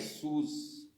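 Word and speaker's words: סוס: Então aqui é sus. Aqui é sus, em hebraico, aqui se escreve sus, que é cavalo.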